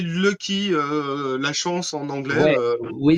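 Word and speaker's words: Loki: leur nom donc c'est loky loky ça s'écrit comment loky loky l o K i mais on aurait plus tendance à l'appeler Lucky la chance en anglais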